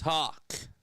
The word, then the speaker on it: Hoff: I will look up the pronunciation for you right now. It's Hawk.